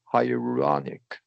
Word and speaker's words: hyaluronic: Hyaluronic.